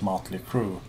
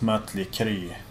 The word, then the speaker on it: Mötley Crüe: And the same goes for a band like Motley Crue. It's not Mötley Crüe.